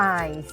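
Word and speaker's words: eins: ค่ะ มา ดู กัน เลย เลข 1 อาย อาย ออก เสียง ให้ กู ฟัง หน่อย ค่ะ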